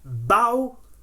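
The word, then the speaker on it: bau: noise that the dog makes in Italian is bow so in it tellan the dog does not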